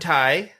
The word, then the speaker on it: Ty: Ty. But pronounced Ty like T.Y.